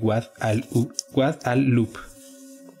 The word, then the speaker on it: Guadalupe: río del lobo y que se pronunciaría en su origen árabe Wad al-Lub.